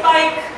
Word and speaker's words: bike: You get a word like bike. There it is, he says its name, and the silent E tells us long vowel I.